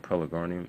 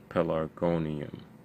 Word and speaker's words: pelargonium: the pellicornian peliconia but what i said pelagonium is pelagonium pelargonium that is a long